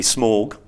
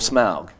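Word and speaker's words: Smaug: mhm like uh so whether it should be smog yeah or smug yeah and so we collectively decided that it should be smell cuz it's got a kind of a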